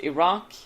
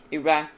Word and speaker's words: Iraq: This country can be pronounced Iraq, Iraq, and Iraq.